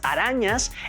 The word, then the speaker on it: arañas: subrayadas de las palabras arañas e interesantes. Como pueden percibir, la sílaba ra de arañas y san de interesantes tienen una mayor intensidad y tono en sus pronunciaciones, aunque en la escritura